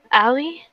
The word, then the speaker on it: Ali: I'm talking to Allie. I don't know who that is. Yes, you do. Allie?